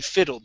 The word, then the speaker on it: fiddled: u sound she sorry she fiddled not filled she fiddled she fiddled with she fiddled with the radio she fiddled with she fiddled with okay so instead of pausing right after that d move right into the next word okay okay okay all